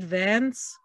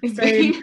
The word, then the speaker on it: Vane: Was it Vance who just kept talking about that hard isn't that bad not his name? Vane. I keep saying it wrong.